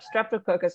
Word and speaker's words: Streptococcus: strap toe caucus yep that is perfect yep streptococcus biogenus yeah streptococcus field biogenesis genus yep yeah